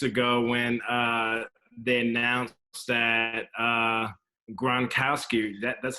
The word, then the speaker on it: Gronkowski: a couple weeks ago when they announced that Gronkowski that's how you pronounce his name yeah yeah you got it